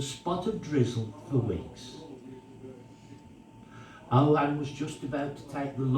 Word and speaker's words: Ohan: And this is the story of Ohan. You wouldn't have heard of him. O-H-A-N. His name is spelled.